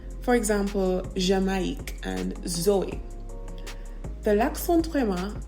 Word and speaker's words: Jamaïque: I'll give you an example. The word jamais, which means never, and then the word Jamaïque, which means Jamaica, right? So jamais, never, Jamaïque, Jamaica. You hear the difference in how the I is pronounced.